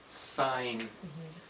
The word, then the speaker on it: sign: a sign of course in that word the g is silent it's just pronounced sign I think in mathematics